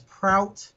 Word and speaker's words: Prout: say my name or my price guard is proud PR o UT of pops in the pop